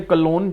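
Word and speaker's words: cologne: Grandmother ने कलोन जो है, कलोन यानी कि जी साइलेंट होता है, कलोन यानी कि परफ्यूम उनके ऊपर छिड़की, इसे स्मेल करो, यानी कि इससे वो काम डाउन हो जाएंगी।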